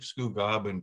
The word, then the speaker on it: Scugog: Did I pronounce that correctly, Robert? Scugog? Scugog.